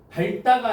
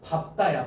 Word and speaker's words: 밝다: 밥다예요? 발다예요? 아, 둘 다 맞는 거 같아요, 느낌이. 자, 발다가 아니고 뭐래, 얘들아? 밥다야.